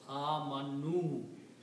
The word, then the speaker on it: amanu: For more than one person, you add a vav as a plural and pronounce amanu.